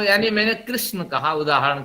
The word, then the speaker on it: कृष्ण: तो जैसे हरे कृष्णा बंगाल वाले उच्चारण करते हैं, उनके उच्चारण में अशुद्धियां होती है, लेकिन जो संस्कृत वाले होते हैं शुद्ध उच्चारण करते हैं। कृष्ण, ये इस तरह उच्चारण होना चाहिए। लेकिन कृष्णा कृष्णा कृष्णा ये इसी में लगे रहते हैं।